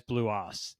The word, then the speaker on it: BluOS: I get to it is it blue o or blue OS it's blue o wow yeah I I